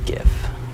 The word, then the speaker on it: GIF: And there's also a GIF, hard G GIF.